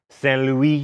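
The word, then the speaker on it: Saint-Louis: Saint Louis, and at a town called Gorée, both in Senegal.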